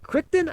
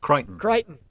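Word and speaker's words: Crichton: connection between Belgravia's Amelia, is it Kryton? I don't know how to pronounce Kiteon and the play The Admirable Kiteon.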